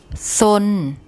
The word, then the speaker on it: ซน: ซน ซน ซน Okay, so the tone rule, we've got a low class initial consonant, and if the syllable ends with an N, we can continue voicing it. So it's live. And if you look at the tone rule for a low class initial consonant and a live syllable, it gives a mid-tone.